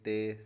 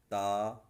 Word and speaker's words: تا: اردو تلفظ سے پرہیز کریں، یعنی بے، تے، سے، ہے، خے، توئیں، زوئیں وغیرہ ہرگز نہ پڑھیں، بلکہ با، تا، ثا، حا، خا، طا، ظا پڑھیں.